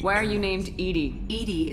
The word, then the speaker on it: EDI: Edie is the phonetic pronunciation of ED.